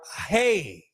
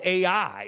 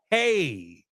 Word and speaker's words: Ai: The biblical references agree that AI is or hey. That's how you pronounce this. AI is not called AI. It's called hey.